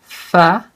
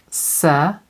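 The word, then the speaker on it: ث: important to make sure that your children can pronounce it perfectly, this letter. It's tha, not sa, or other pronunciation. It should be tha, perfect.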